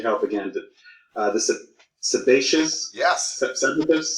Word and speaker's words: sebaceous: i need your help again uh this is sebaceous yes substitutes sebaceous glands that's how you pronounce it yep sebaceous sebaceous or commonly known